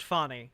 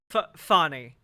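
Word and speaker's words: Fani: time and extraordinary okay it is pronounced funny okay good good good to know good good to know funny uh all right gotcha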